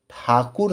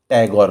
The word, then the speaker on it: ठाकुर: अंग्रेज़ों को ठाकुर सरनेम के उच्चारण में काफ़ी दिक्कत आती थी, इसीलिए ठाकुर के उच्चारण को उन्होंने टैगोर कर दिया और तब से इनका नाम पड़ गया रविंद्रनाथ टैगोर, जबकि इनका वास्तविक नाम रविंद्रनाथ ठाकुर ही है।